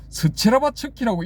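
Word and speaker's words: Щербатской: 러시아어로는 스체르바츠키라고 읽어야 된대요. 근데 제가 봤을 때는 영어로 번역된 거니까 영어식으로 읽어야지 하고 저는 체르바츠키라고 부릅니다 그냥.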